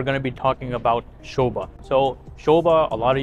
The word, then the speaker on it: Sobha: and a lot of marketing everywhere Sha Sha Sha even though it says soba it is pronounced Sha Sha is anonymous with quality right